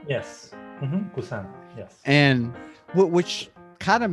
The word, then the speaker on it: Busan: Busan. Yes. And which kind of makes me laugh a little bit that you don't like horror, because there was that big horror movie that came out, Train to Busan, which, well, one, I've yet to watch either,